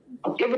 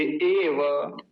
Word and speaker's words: एव: इव नहीं बोलेंगे, एव।